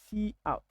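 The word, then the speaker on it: cout: console C so we we normally pronounce it like so see out this is a pronunciation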